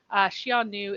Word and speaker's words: Xiongnu: Xiongnu is just like the modern way of pronouncing this character. And the past, it was more like Hanu, but I don't know what the tone was then.